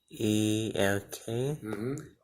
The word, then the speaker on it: elk: E-L-K. Act. So how do you pronounce just EL together? Act. Oh, it sounds like the letter. Sounds like the letter L.